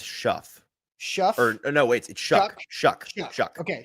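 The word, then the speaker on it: Shough: times eight different uh it's it looks like Shaw but it's Shuff Shu or no wait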